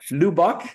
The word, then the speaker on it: Lubbock: I mean, Janine, I was driving the RV and she's like, how do we pronounce this? Lubbock? Lubbock?